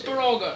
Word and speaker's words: Baraga: You're Is pronouncing it wrong. It's Baraga. Is it Baraga? But I heard people calling it Baraga. Well, it's Baraga, not whatever other people call it.